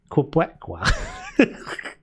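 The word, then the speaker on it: Québécois: Pronounced Quebecois.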